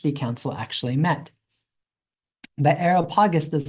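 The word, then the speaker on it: Areopagus: verses 18 and 20 take him before the aragopagus to adjudicate the matter. Now, Agarop Aerop sorry I mispronounced it. Aeropagus was actually a short term a short uh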